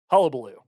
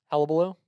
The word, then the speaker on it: hullabaloo: just you're just mashing the beginning and the end of the word together now say hullabaloo hella below you say hubba hubba yeah it's hullabaloo now hubble i love how